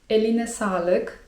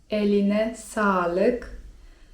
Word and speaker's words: eline sağlık: Kolejnym takim zwrotem grzecznościowym, myślę ciekawym i wartym nauczenia się jest: eline sağlık (czyt. eline salyk) To jest mniej formalne, a bardziej formalne: elinize sağlık (czyt.